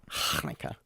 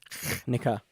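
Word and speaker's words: Chanukah: Hanukkah. Not Hanukkah.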